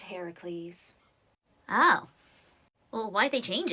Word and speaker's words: Heracles: Well, in the original tale, I met Heracles. Eh? Heracles. Who the he's? Heracles. Why are you saying it so weird? I thought it was Hercules. Well, actually, in most translations of the story, it's pronounced Heracles.